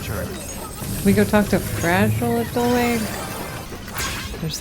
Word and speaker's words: Fragile: So her name is actually Fragile. Yeah. I wasn't just insulting her. Not yet, at least. She's French. I think it's pronounced fragile.